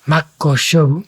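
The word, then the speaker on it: 真っ向勝負: Sí, Makoshobu es ahí doble K. Esta es una palabra complicada de pronunciar, ¿vale?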